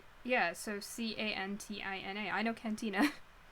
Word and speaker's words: cantina: so c-a-n-t-i-n-a i know cantina i'm pronouncing it with the spanish pronunciation because it's la cantina so la cantina had